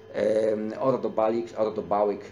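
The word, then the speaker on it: Ordu-Baliq: XIX wieku w czasie wykopalisk niedaleko Karakorum, tam gdzie była stolica Gokturków, tego pierwszego tureckiego czy turkijskiego imperium stepowego, Ordobałyk, tak się to powinno wymawiać.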